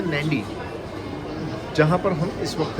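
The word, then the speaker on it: Nadi: tourist spot है और दूसरा इसकी स्पेलिंग है एन डी आई लेकिन इसे प्रोनाउंस करते हैं नंडी जहां पर हम इस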